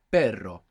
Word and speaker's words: perro: going to come so initial r or two RS together inside the word is going to pronounce this Double R so the word for